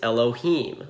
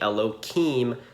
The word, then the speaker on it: Elohim: When not praying or reading from the Torah, we generally say Elohim, substituting a K for the H.